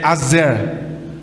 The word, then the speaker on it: Aser: Queridos, nós vamos falar hoje sobre a tribo de Azer, ou Aser, a maneira que você quiser, mas a pronúncia é Azer, certo?